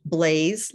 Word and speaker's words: Blais: my name's blaise my last name is spelled b-l-a-i-s but it's pronounced blaze like the fire um my email here